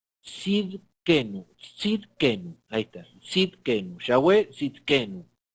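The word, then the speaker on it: Tsidkenu: Es Yahweh Siden, a ver si lo puedo pronunciar, Sidenkenu. Sidkenu, ahí está, Sidkenu, Yahweh Sidkenu.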